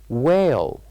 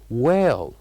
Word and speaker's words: whale: whale whale and the word whale has one silent letter repeat after me this word so you can know what that silent letter is is whale whale so what is the sound we didn't pronounce in this word well of course the letter is that we didn't pronounce and we kept it silent it is H whale and then the